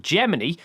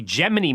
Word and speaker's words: Gemini: a few people questioned why the hell was I calling it Gemini and not Gemini. Usually, I would pronounce the word as such like the star sign. However, in all of the archived footage from that time, NASA referred to it as Gemini.